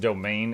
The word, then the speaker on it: demesne: Demesne is pronounced domain. It's one of those old-timey words.